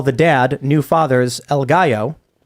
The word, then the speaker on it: gallo: Mac Rabbit says in the Hispanic culture, they call the dad, new fathers, El Gallo. Pronounced gallo, rooster.